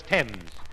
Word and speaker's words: Thames: Thames? Archie, if you're thinking of that river in Paris, the word is Thames. That's the French pronunciation.